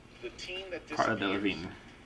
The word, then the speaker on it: Delevingne: Delevingne. It's pronounced Delevingne.